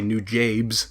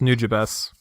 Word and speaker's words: Nujabes: not the people I've talked to who say new James it's actually pronounced nujabes are you freaking kidding I'm not even I'm